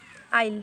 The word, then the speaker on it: aisle: सबसे पहला वर्ड है आइल, ठीक है।